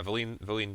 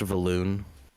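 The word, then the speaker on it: Vellynne: timing um so yeah Val Vine kind of LED you guys to the Inn uh she's you know you know there's a round of food that has been ordered um it's pronounced valoon just letting you know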